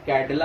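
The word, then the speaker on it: candela: है कि 1 कैंडेला, actually जान दीजिए कैंडेला लिखा जाता है, पढ़ा CD यानी कैडला ही जाता है, लिखते कैंडेला है लेकिन पढ़ा कैडला जाता है, प्रोनाउंसिएशन कैडला है।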